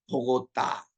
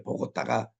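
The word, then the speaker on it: Bogotá: 있습니다 자 우리 콜롬비아 보고다 우리 보고 타라고 발음하는데 현지인들은 보고 따라고 발음을 하더라고요 해발이 2,600m 굉장히 아주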